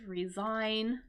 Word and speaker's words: resign: And notice how that GH is silent, resign.